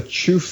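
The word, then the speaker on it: Qufu: potential yeah it's the chuu shaolan Kung Fu school so chuu is spelled qfu it's where confucious was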